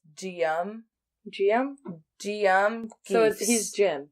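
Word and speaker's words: Guillaume: But anyway, so the statue was removed and they commissioned his brother, whose name looks really hard to pronounce, but it's just Gium.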